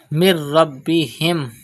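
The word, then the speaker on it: من ربهم: Mir Rabbihim. Pronounce Ba with emphasis because Ba is a Qalqala letter and it is Mushaddad in this word.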